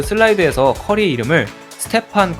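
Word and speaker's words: Stephen: 그 슬라이드에서 커리 이름을 스테판 커리로 쓴게 아니라 스테폰 커리라이스 stepp이라고 계속 발음해서 자신들이 뭘 실수하는 모르고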